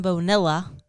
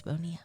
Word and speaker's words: Bonilla: So if you don't know, his name's not Bonilla. It's Bonilla. Yes. That's the Midwest way of saying my name, but it's okay.